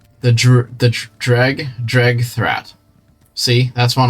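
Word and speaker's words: Dreugh: the crab looking creatures I didn't know that was how you say it though I thought it was like true or something so it's drag good to know all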